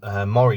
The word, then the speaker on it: Mora: Now, most of you will say, well, does that mean you've got some Mora knives or Mora knives, depending on how you want to pronounce them?